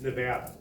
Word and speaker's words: Nevada: The first thing they need to do is to appeal to the people in Nevada is understand it's pronounced Nevada.